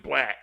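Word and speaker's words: 6LACK: Hey, speaking of that, I don't care if he wants to pronounce it black. I know. He got a 6 in front of it. It's 6 Lack. I'm gonna call him 6 Lack.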